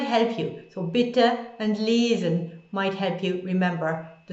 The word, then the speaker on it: lesen: And then lesen, the verb to read, lesen, lesen. That might help you. So bitte and lesen might help you remember the sounds of E